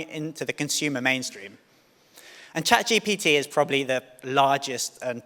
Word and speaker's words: ChatGPT: In fact, there's a stage before that between you and me, and that's actually pronouncing ChatGPT correctly. Half of my family still call it ChatGTP, but that's another story.